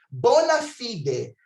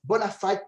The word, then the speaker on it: bona fide: Bona fide. Em inglês, fala-se bona fide person, pessoa de boa fé, mas a pronúncia correta em latim é bona fide, de boa fé.